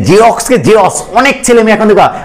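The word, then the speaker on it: Xerox: আমরা উচ্চারণ করি না, আমরা বলি জেরক্সকে বলি জেরস, তাহলে কটা শব্দের কোথায়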